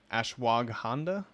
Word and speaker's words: ashwagandha: The ashwagandha, how do you pronounce it?